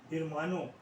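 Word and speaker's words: hermano: ईखो, ला ईखा और इरमानो एच इसमें से आपको जो है हटा देंगे। एच साइलेंट रहता है, कहीं पर भी एच का स्पेनिश में यूज़ नहीं होता है।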